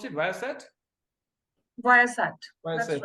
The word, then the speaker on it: Viasat: Is it the way we pronounce it, Viasat?